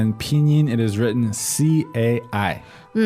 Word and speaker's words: 菜: Now, you might be tempted to pronounce this as kai. All right, but that would be wrong. No, the correct pronunciation for C in pinyin is a little bit like TS, isn't it?